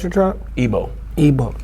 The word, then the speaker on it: Igbo: or Yorubas, kind of how you want to pronounce it, and the Igbo tribe, which is us. And like, how do you pronounce your tribe? Igbo.